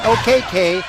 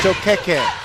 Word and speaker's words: Okeke: It's not Okeke, it's Okeke. It's kind of like it's not Buenos Dias, it's Buenos Dias.